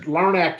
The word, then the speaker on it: Larnach: you were pretty good no i mean laraneck is is closer um um out of